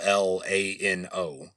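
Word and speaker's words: Llano: So yeah, these are the official Texas pronunciations of these towns, but at the Lano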